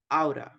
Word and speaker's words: ought: Aura, okay? Pronunciation, everybody, aura.